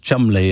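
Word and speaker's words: Cholmondeley: family is called troll mundley who apparently you pronounced chumley and featherstone hall which is fanshawe anyway that's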